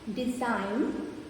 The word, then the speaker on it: design: Sign, design, gnome. In these words, G is silent.